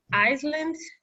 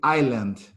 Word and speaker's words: island: only thing is that we don't pronounce the ass here that's the only word we say island the island of manhattan island okay the rest was